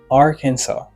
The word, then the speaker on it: Arkansas: The letter S is silent. Let all right. Say Arkansas.